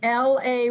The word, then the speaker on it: Layman: person in the world is actually pronounced like l-a-y-m-a-n so layman is correct you know i thought